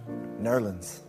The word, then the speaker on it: New Orleans: I Jazz was born in New Orleans or as it's correctly pronounced nerland and then from Newland